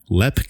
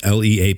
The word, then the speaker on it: Leap: uh it was called LEP Castle it's spelled l EAP P so I thought it was leap Castle until I started like watching videos on it everybody called it LEP Castle it's got everything that